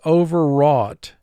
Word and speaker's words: overwrought: Overwrought. 3 syllables, first syllable 1 sound, o. Ver, 2 sounds, v, Wrought, 3 sounds, r, aw, t.